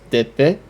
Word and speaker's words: d'épée: and that would be spelled, that would be pronounced d'épée, which is a reference to the noblesse d'épée,